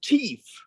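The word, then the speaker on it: tief: In German, it's teeth. T-E-I-F. And that teeth. means deep.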